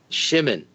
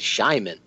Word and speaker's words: Shimon: West Coast Phil, and Shimon. I always said it Shyman. So yeah, that was my fault because I was mispronouncing it for 3 years.